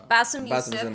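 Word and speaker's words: Bassem: especially Bim YF and I don't know if I'm saying it right because I hear bass it's Bassam okay I hear Bim and I hear bosam so bosam more authentic yeah so um what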